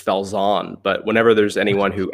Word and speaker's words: Falzon: pronounce your last name i i pronounce it like a boring american just fells on but whenever there's anyone